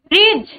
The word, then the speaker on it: bridge: Bridge. Bridge. Bridge. Which is the silent letter?